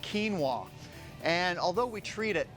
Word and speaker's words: quinoa: quinoa, actually it's pronounced quinoa.